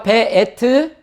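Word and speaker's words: וְאֵת: 그리고 바브에다가 에가 있는 거죠. 그래서 배. 그 다음에 알렙에다가 에가 있으니까 에. 그 다음에 타브. 그래서 베에트.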